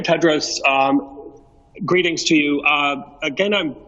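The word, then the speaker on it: Tedros: for the question and the correct pronunciation of my name is dr. Ted Rose greetings to you again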